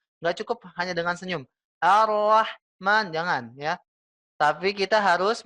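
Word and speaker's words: الرحمن: yang keluar nafas enggak cukup hanya dengan senyum Arrahman jangan ya tapi kita harus mengeluarkan nafasnya secara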